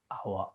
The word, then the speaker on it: hour: A house, but a hour, an hour, an hour. The S at the beginning of hour is silent. That's why an.